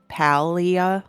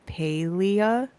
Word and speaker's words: Palia: I always used to call this palia like cuz pals cuz you're hanging out with your friends and you're gaming. Mhm. But I think on their little Q&A for pronouncing it, it's Paleia. And I'm like, "Oh, Paleia,